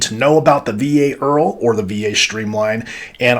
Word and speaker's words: IRRRL: And today we're going to talk about the VA IRRRL, pronounced like one of my favorite TV shows of all time. My name is Earl. VA IRRRL stand for Interest Rate Reduction Refinance Loan.